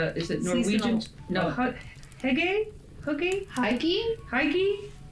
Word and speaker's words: hygge: No, hygge, hygge.